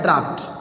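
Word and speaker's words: draughts: जैसे मैं एक शब्द आपके सामने लिखना चाहूँगा, ड्राफ्ट, शब्द में लिखना चाहूँगा ड्राफ्ट, DRAUGSTS उच्चारण होता है ड्राफ्ट, DRAUGSTS।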